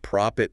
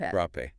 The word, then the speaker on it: Propét: winter gear we're talking propit men's winter boots and you know you got to say it right prop not prop prope it is but you know what